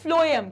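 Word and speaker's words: phloem: xylem कहते हैं ठीक है इसको प्रोनाउंस हम फ्लोएम कहते हैं क्या कहते हैं जाइलम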